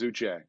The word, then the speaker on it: Uche: you say it O'Shea it's I think it's a hard CH I think it's Uche he is a really